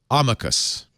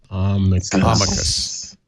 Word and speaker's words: amicus: The professor said amicus. So that's how I thought it was said. Amici. Amicus. So the C is hard, but the emphasis is on the first syllable. Amicus.